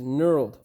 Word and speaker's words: knurled: 3-inch extension, that is knurled. For those of you who are not English speakers, there is a silent K.